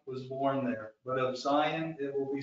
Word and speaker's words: Zion: Now in Hebrew, it's pronounced Tzion, but in English we say Zion. I love Zion.